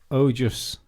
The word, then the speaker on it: Ojas: My name is pronounced Ojus.